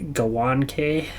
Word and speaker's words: Gawanke: And first things first, we did have a correction from the King LJ8KJ saying you should say Gawanke is how you say our one defenseman's name.